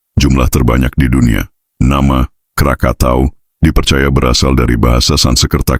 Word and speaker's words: Krakatau: Nama Krakatauo dipercaya berasal dari bahasa Sansekerta Karkata yang berarti kepiting atau lobster. Sementara istilah Krakatoa populer akibat kesalahan pelafalan persat ketika melaporkan letusan lepambas nana tampul 3.